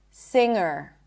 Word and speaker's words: singer: Sometimes if you add a suffix to a word that ends with an ng, you will still pronounce it as an ng. Sing. Singer. I did not pop the g singer.